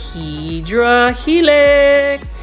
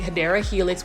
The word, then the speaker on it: Hedera helix: Now you can see they did have a couple of Hydra Helix. Now, for those that don't know why I say Hydra Helix, that's just a mispronounced way of saying Hedera Helix, which is English ivy.